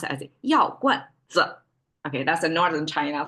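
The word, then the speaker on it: 药罐子: Now we add a 子 at the end, and we have to say it in the same light tone, which is like non-directional, and we mark it with a circle on the top.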